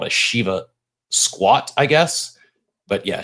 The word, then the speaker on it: Shiva: It was not the Shiba dance. It was the dancing Shiva, not Shiba, Shiva with a V.